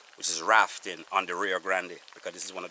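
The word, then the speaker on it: Rio Grande: that we're here which is rafting on the rear Grande because this is one of the biggest river in Jamaica one the most the river that um pronounced rafting in Jamaica is RAR Grande so this is one of our what was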